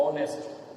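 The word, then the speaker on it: honest: इसमें देखिए आप एन, ऑनेस्ट, आप देख रहे हैं ऑनेस्ट एच स्टार्टिंग में है, एच कॉन्सोनेंट है, वॉवेल नहीं है, लेकिन हम इसको वॉवेल साउंड से पढ़ेंगे। ऑनेस्ट, एच साइलेंट है, ये ऑनेस्ट, ओ वॉवेल साउंड है, इसलिए हमको एन लगाना है।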